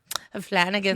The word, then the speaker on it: Flanagan: This guy's name is Mike Flanagan, the guy that directed most of that. Say it right, dude. Flanagan.